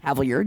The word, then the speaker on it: Havilliard: Dorian Havilliard. Haviard.